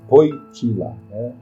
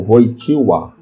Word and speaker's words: Wojtyła: O nome dele de batismo, importante dizer, alguns não saibam, é Karol Józef Wojtyła, ou Wojtyła. Existem pronúncias divergentes, mas esse é o seu nome.